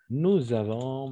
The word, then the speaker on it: nous avons: Nous avons, on va faire ici la liaison, n'oubliez pas, la liaison.